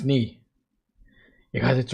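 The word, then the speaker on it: 你: It's not nigh. It's knee. Now I need to just say it's not nigh, it's me. As in me. Oh, my mistake. Knee is pronounced like knee.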